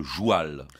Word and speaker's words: joual: On dit le joual, pas le comme cheval. Le cheval. Voilà, le joual.